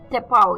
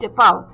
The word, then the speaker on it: tapau: टेपाओ, जी हाँ, ये भी अटपटा वर्ड है, TAPAU, टेपाओ, TAPAU, टेपाओ. इसकी प्रोनाउंसिएशन थोड़ी अटपटी जरूर है, पर ये भी इंटरेस्टिंग वर्ड है.